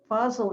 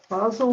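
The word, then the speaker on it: Fazl: like us to recite eleven times yah fazel fossil is not one of the 99 names as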